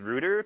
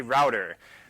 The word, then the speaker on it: router: I'm going to do things like repeatedly point out that you can't possibly pronounce router as router, because it's not spelled like this. It is a router. There's no double O there.